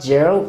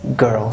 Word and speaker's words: girl: breaking the rules so it is not gerald it is girl so this is an